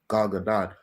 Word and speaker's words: Gadot: Because Gal Gadot. That's how you say her name. Gadot. First of all, she's not a good enough actress to play them differently.